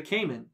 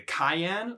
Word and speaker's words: Cayenne: turn off for me it's a cayenne like the pepper i don't i don't